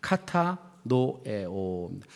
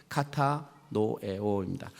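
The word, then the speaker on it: κατανοέω: 헬라어 발음으로 읽어드리겠습니다. 카타노에오입니다. 카타노에오입니다.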